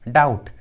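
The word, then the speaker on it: doubt: उसी तरह डाउट, डाउटफुल। देखिए दोनों इंग्लिश वर्ड्स में भी बी जो है वो टी के पहले है, बी जो है वो टी के पहले है, इस ट्रिक के अनुसार बी का उच्चारण नहीं किया गया है, बी साइलेंट है।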